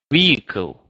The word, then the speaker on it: vehicle: quite unique um so we do not pronounce letter H here so the pronunciation is is uh vehicle vehicle so no h over there uh car accidents